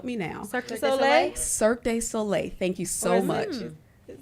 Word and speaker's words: Cirque du Soleil: Cirque du Soleil.